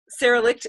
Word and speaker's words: Sara Licht: Sara Licht is am I saying your name? Yeah, I am. Yeah. Rhymes with, Sara is also a bars facilitator, and